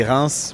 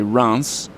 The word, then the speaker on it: Reims: dangerous too it's um well we get it when you say RS uh but if you say rans we we like it better tell me what you think about this I tell people sometimes if you say France the word France and take off the F so you say Rance it's not correct but it's way closer than re I never thought of